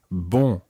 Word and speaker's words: bon: And remember last week when we were listening to our nasal sounds, the first syllable is very nasal. It's bon. Bon. And bon means good.